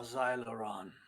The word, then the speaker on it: Zylron: We are Xyloron, the Mini. That is spelled Zylron. Xyloron.